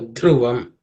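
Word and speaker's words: ध्रुवम्: It's not an H sound, but it says it is aspirated the. Okay, the. Okay, so dhruvam.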